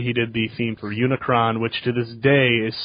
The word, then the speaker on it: Unicron: it's amazing even though they mispronounced Unicron as unicorn but I forgive them